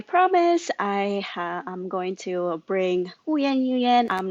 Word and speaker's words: Huyen Nguyen: it if I say in Vietnamese, it would be Huyen Nguyen.